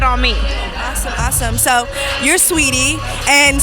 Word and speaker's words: Saweetie: me awesome so your sweetie and sweetie isn't spelled the way it's pronounced so how did you